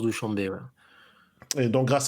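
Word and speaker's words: Douchanbé: grand schlem de Douchambé Douchambé pardon je sais pas comment ça se dit Douchambé en tout cas en français ça se prononce Douchambé voàamb et donc grâce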